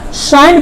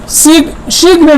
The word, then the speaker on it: sign: क्या पढ़ेंगे, इसको साइन पढ़ेंगे, सिग्न नहीं पढ़ेंगे। क्या इसे सिग्न, यानी जी का प्रोनाउंसिएशन नहीं होना चाहिए। देखिए जी के बाद क्या आ रहा है, एन आ रहा है। मेरे ट्रिक में लिखा भी गया है कि जब जी के बाद एन आता है उसका जी का कभी भी पहले प्रोनाउंसिएशन नहीं होता है।